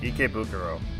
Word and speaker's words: Ikebukuro: I am pronouncing that correctly, right? Ikebukuro.